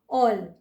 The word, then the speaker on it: all: जब हम ALL ऑल बोलते हैं तो उसको कुछ लोग आल प्रोनाउंस करते हैं, बिल्कुल भी नहीं, ये होगा ऑल।